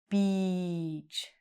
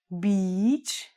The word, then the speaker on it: beach: It is one syllable and it's beach. It's a very long E sound.